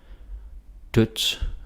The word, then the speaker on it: dødt: Dødt, mødt, sødt. Okay. Dødt, mødt, sødt. So that D is silent.